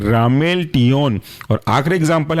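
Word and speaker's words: ramelteon: है आपका रामेल टिन रामेल आर ए एम ई एल और टियो टी ई ओ एन एक साथ कहलाएंगे रामेल टियन और आखिरी एग्जांपल है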